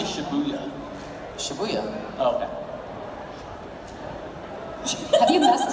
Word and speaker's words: Shibuya: Shibuya.